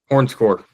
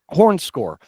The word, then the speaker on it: HornScore: Is it is it Horn Horncore? Hornscore.